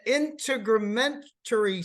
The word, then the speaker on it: integumentary: the respiratory system the integumentary system the endocrine yeah I'd pronounced that wrong didn't I it's integumentary system that's correct which is skin glands